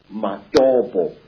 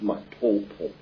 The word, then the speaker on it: Matopo: And one of these parts of Africa, sir, is a remarkable place called the Mountains of the Round Rocks, Matopo, wrongly pronounced Matopo, in Zimbabwe.